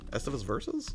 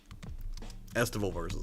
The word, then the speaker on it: Estival Versus: Estivus Versus? Is that what it was? For the Vita? Estival Versus, I said it wrong.